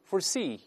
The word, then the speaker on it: foresee: 提前看到，我们注意重音后移了。一般来说，名前动后，名词重音都在前面，动词重音都在后面。